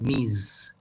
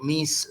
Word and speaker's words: Ms: it's just ms and we pronounce that miz not miss and not mrs but